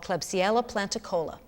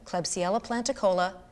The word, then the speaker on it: Klebsiella planticola: major scale a genetically engineered soil bacteria called klebsiella planticola for your notes that's spelled k-l-e-b-s-i-e-l-a p-l-a-n-t-i-c-o-l-a the genetically altered bacterium was